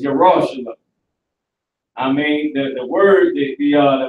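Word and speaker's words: ירושלים: So now, Yerushalayim is how you say Jerusalem in the Hebrew.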